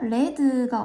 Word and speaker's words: read: he let books가 됩니다 리드의 과거인 글자는 똑같지만 발음이 달라지죠 레드가 옵니다 그래서 그는 책을 읽었다 똑같은데 왜 읽는다는 리드가 아닐까 왜일까요 자 주어가 3인칭 단수일